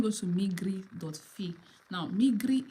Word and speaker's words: Migri: Fe now migri is pronounced is spelled the way I'm pronouncing it notice that I drag the r the R so m